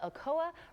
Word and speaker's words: Okoa: Allison Chance back to tell us about the Okoa Refuge.